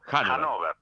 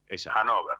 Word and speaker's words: Hannover: Hannover se pronuncia. Bien, Hannover.